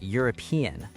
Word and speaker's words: European: And the same thing with the word European, a European country, because it starts with the y sound.